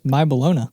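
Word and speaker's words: My Bologna: recorded or how do how do you Weird Al fans pronounce it that was my balona my balona that's my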